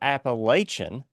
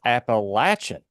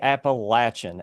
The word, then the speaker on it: Appalachian: to tell everyone that it's not Appalachian, but it's Appalachian. So take it from an Appalachian boy that if you ever hear it on the news, they're probably saying it wrong. It's actually Appalachian, and that's true.